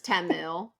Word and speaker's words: Temu: nothing from the Super Bowl because you were mispronouncing it, and so were we the whole episode. So I know it's Temu.